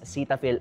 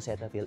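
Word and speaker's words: Cetaphil: And yes, Cetapil ang pag-pronounce sa kanya apparently. Pero hindi ko naman kayo dinidiktahan kung gusto niyong i-pronounce siya ng Cetafil.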